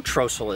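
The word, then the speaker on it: Trostle: How do we know Trossel is the right way to say it? I don't know. Well, there's Trossels around here living today. They all call it Trossel.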